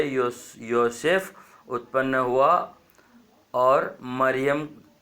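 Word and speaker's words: מרים: उसका मीनिंग निकलता है तो मरियम नहीं मिरिया नहीं और मारिया नहीं और मेरी भी नहीं मरियम्मा भी नहीं मिरियाम बोलना चाहिए मिरियाम का पति था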